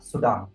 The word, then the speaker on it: सूडान: वो था हमारा सूडान, ठीक है, सूडान बोले या सुडान बोले, जो भी आपको सही लगे, आपको राइट प्रोनाउंसिएशन लगे, आप बोल सकते हैं।